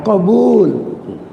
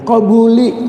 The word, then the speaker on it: qabul: Serentak suka bilang jamaah qabul, artinya diterima, harapan dan permohonan. Cuman ada yang balik bacanya qabuli, habis doa kembuli keluar. Qabul diterima.